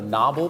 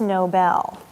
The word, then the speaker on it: Nobel: from the guy who wrote that deserves the novel Peace Prize it's pronounced Nobel Susan don't hate the player hate the game